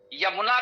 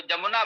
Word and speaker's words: यमुना: तो यज्ञ को यज्ञ बोल देना, यमुना को जमुना बोल देना, ये अशिक्षित लोगों का अशुद्ध उच्चारण है।